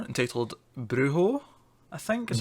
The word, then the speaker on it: brujo: There's a J, or a J, but yeah, no, Americans say J, we say J. But like most Mexican words or Spanish words with a J in them, they tend to become H's.